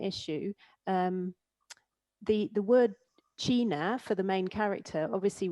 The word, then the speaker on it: china: is obviously the pronunciation an english person looking at the title of the book will naturally read the adventures of china iron not china and then they have